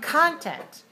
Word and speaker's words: content: american continent continent see if you stress that word in the first position that's where the K is the ker sound we have to say content content and continent continent do